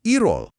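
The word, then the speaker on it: 일월: Jadi ilw dibacanya. Irwall.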